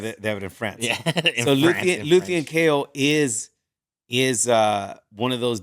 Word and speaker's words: Luthen: Luthen.